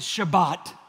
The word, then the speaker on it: Shabbat: We've learned that word in the Hebrew, you pronounce it Shabbat.